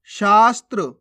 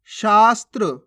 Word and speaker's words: शास्त्र: पढ़ कैसे रहे खत्म शास्त्र कैसे पढ़ेंगे शास्त्र शा शस्त्र नहीं पढ़ना आपको शास्त्र ठप्पा कैसे पढ़ेंगे ठप्पा ठप